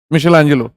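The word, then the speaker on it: Michelangelo: मिशेलांजेलो, माइकल एंजेलो लिख लो, वही मिशेलांजेलो हो जाएगा।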